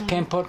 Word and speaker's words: Kampot: It's Kampot, Kampot?